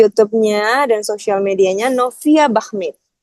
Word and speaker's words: Bachmid: Di YouTube-nya dan sosial medianya Novia Bahmid. Bachmid Bahmid. Tapi ya, bacanya bukan Bahdim.